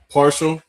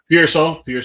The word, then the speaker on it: Pearsall: Jawan Jennings, Rashad Parshall, I think that's how you pronounce his name. No, Pearsall, yes, thank you.